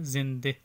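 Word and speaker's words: زنده: اس لفظ کو ہم اردو میں پڑھتے ہیں زندہ، لیکن فارسی میں اس کا تلفظ کریں گے زندے، بندے.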